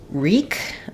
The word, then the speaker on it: wreak: have the word uh reek um with W with the WR R sound so WR at the beginning of words um is the W is a silent letter here so in words